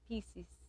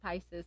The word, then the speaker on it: Pisces: a Pisces Pisces yeah I always used to say it pieces but they say that's not how you say it's Pisces Pisces yeah and what El